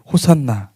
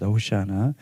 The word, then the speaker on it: 호산나: 그래서 이들은 종려나무 가지를 들고 환호하는데 13절에 보니까 호산나이 헬라어 그든 호산나이 정확히 히브리어 발음은 호시아 오시아나 오시아나 아는 말을 아 시편 118편 보면은이 말씀이